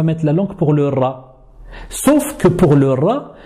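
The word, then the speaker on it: ر: La lettre ra, c'est un peu comme le R en espagnol, le R roulé.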